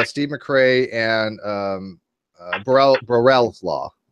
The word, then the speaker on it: Borel: called Steve McRae and Borel's law. Borel, actually it's French. It's Borel. It took me a long time to figure that out, but it's Borel if you speak French, which I don't, and I butchered that.